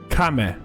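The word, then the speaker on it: 亀: Kame.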